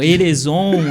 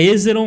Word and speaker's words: Hezerom: Erezon, Ezomeron.